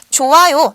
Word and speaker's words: 좋아요: 나는 친구가음 나는 친구가 좋아요 얘도 마찬가지로 받침이 휘이니 그대로 소리 나지 않고 좋아요라고 발음이 되는 겁니다 바르게 읽어 보았는데요 이번엔